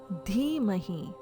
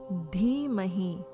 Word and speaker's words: Dhimahi: Bhargo Devasya Dhimahi. Please note, letter D in Sanskrit is a soft dental sound. Letter D followed with an H sounds like dha, as in this. Bhargaha Devasya Dhimahi, chanted as Bhargo Devasya Dhimahi.